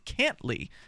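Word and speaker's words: Cantlie: British hostage named John cantly now it's spelled can't uh cin TL IE which sounds like can't lie interestingly enough interesting man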